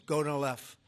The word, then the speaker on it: Gonal-F: most popular drug of all, the IVF drug Gonal-F. So it's Gonal-F. Is that a proper pronunciation?